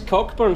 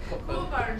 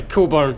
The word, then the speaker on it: Cockburn: Is this Cockburn Street? That's right. Yeah. Coburn. Sorry, Coburn. It's spelled Cockburn. It's Cockburn. So this is Coburn Street. Yep. Coburn, which is spelt quite differently from how you would say it.